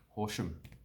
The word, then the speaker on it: Horsham: So what you want to do is you want to not say the A. So Horsham.